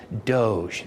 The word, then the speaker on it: Doge: official in an Italian city state it is pronounced Doge this is a real thing and here is